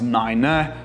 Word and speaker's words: nine: So numbers like five becomes fife, seven becomes seven, nine becomes niner, and we always say zero, we don't say O or naught.